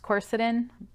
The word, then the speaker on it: quercetin: a powerhouse as is quercetin I've also heard that pronounced corset in tomato tomahto I guess now this particular supplement